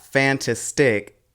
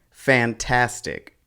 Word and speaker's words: fantastic: of the word so for example fantastic the stress falls on the second syllable Tas it's not fantastic and it's not fantastic fantastic imagine if you were having